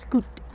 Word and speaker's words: Tlingit: That's the meaning of Chilkoot and it's pronounced Tlingit.